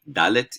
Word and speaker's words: dalet: latter g okay um dalet is uh like a rd so door something like that hey i said like